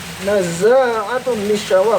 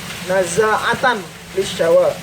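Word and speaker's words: نَزَّاعَةً لِلشَّوَى: Naza'atun lisyawa, kalau gitu bacanya naza'atan lisyawa.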